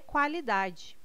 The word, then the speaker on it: qualidade: O QU não é dígrafo, não é pronunciado com um som único. O quá traz um ditongo, dois sons UA.